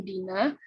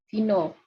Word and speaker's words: dina: Di sini secara penulisan sama, tetapi cara membacanya berbeda. Dalam bahasa Sanskerta yang diketahui cara membacanya tetap A, yaitu dina. Kemudian bahasa Jawa dino.